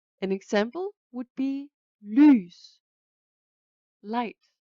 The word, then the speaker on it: lys: An example would be lys, light.